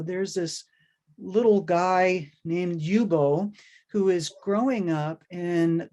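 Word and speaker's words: Ljubo: and his name is yubo lulich and the yubo is spelled l-j-u-b-o and already people have trouble with that which also can kind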